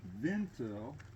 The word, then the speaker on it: Wendel: The way it's pronounced with the way the Germans said it, it's Johann Wintel with a V and a T, and the George is pronounced Georg, and Trout is pronounced Trot.